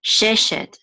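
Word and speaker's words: שֵׁשֶׁת: This is she, and this is a tav, which is which closes the syllable out, shet. Sheshet, sheshet, sheshet means six. Shesh is actually six, sheshet is kind of like six of, or something like that.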